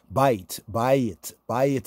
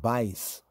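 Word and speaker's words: בית: So the TH on some words, bayit is house, right? So the Ashkenazic pronunciation is like bais, right? Bais, the house right there. Bayit, right? That's the Afro-Shemitic, bayit, right?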